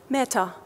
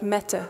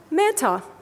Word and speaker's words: Mehta: If I read something I didn't get, he said, "Meta," and he was pronouncing my name like a meta-analysis, not like Meta, which is my real name. Mehta, if you do not